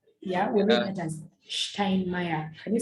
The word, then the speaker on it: Steinmeier: Can people pronounce Steinmeier? Mr. Steinmeier, yeah?